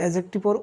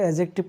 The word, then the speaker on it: adjective: আপোনালোকে লক্ষ্য কৰিব এইটো এডজেক্টিভৰ উচ্চাৰণটো এডজেক্টিভ নক'ব কেতিয়াও, এডজেক্টিভ ডিৰ উচ্চাৰণটো সাইলেন্ট থাকিব অৰ্থাৎ উজ্জ থাকিব।